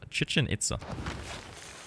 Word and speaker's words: Chichen Itza: let's try for chichen it's chichen itza not the easiest name of a wonder to produce or to pronounce chicken pizza is a a common alternative we finished our encampment